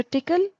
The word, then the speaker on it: Tcl: So, tickle is tool command language.